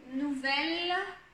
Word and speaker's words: nouvelle: nous, le son ou, nouvelle, ici le son e, nouvelle, personne, ici c'est